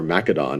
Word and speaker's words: Macedon: full control and becomes king of Macedon or Makka Don as it's often pronounced in 359 BCE and what